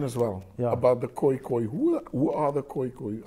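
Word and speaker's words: Khoekhoe: yes in afrikaans yeah so it's almost like a g sound okay and then you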